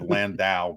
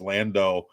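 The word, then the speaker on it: Landow: So Notre Dame started their winter workouts last week, and Lauren Landau, we've been using the alternate pronunciation of Landau, but it's Landau, has been on campus.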